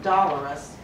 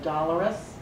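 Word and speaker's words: dolorous: show your students that it looks like Dolores but you really pronounce this word dollars we're going to draw dollar signs on her hair so they have the correct pronunciation so dollarus is mournful or sad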